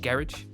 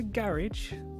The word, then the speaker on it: garage: Is it garage? Oh yeah. Yeah. Shush. You guys say it wrong. In the garage. Yeah. Fair. That's true. That's fair. If I'm specifically referring to the genre, I'll say garage.